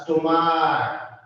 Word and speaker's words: stomach: But in case of stomach, pronounce as stomach.